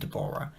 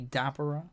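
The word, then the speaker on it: Dabura: These, as we know from the bill, are Pui, Yakon, and Dborah. And remember, Dborah is actually Dabber. The dub may say Dbor, but in the Japanese it's Dabber.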